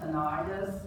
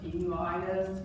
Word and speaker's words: tinnitus: It's called tinnitus or tinnitus, if they're pronounced both ways.